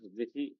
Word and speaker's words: the: কি বলো তো দেখি, আমাকে একটু শেখাও। স্যার যখন সেটা বলো। স্যার দি যখন কনসোনেন্টের আগে বসে তখন সেটা তা উচ্চারণ হয়, আর যখন ভাওয়েলের আগে বসে তখন সেটা দি উচ্চারণ হয়।